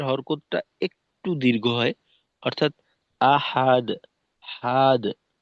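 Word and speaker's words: أحد: যায় হা এর হরকতটা একটু দীর্ঘ হয় অর্থাৎ আহাদ হাদ হা যেন লম্বা হয়ে না যায় আ হাদুন আহাদ আহাদ এরকম কুলহুয়ল্লাহু আহাদ আহাদ আর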